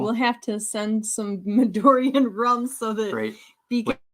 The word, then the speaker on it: Midori: You don't say it right though. Midori. You gotta say it like that.